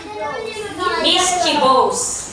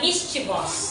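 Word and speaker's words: mischievous: Misschib daw. Tapos ikaw mischibos mischibos. Ang tamang pagbasa dito ay mischivos.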